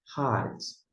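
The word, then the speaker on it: הָאָרֶץ: Mas a pronúncia aqui seria ha. Opa, deixa eu destacar aqui, deixa eu só para você acompanhar em tela. Ha aretz. Se pronuncia de uma vez tudo junto.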